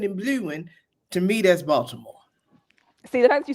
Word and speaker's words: Baltimore: But like the T is like it's like silent.